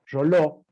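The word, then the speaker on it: Reuleaux: Roló, Realeux se escribe, Rea, Leuc, Roló, digo yo, es un investigador que definió y que se denomina el padre de la cinemática, ¿sí?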